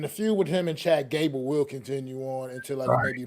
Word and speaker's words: Chad Gable: I think I'm saying his name wrong, but I hope he does well. You are, but it's all right. We get it. What is his name? We get it. It's Chad Gable.